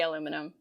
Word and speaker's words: aluminum: What about aluminium? It's very strange. No. Okay. No, we say aluminum. Aluminium is everywhere else. All the other Commonwealth countries except for Canada.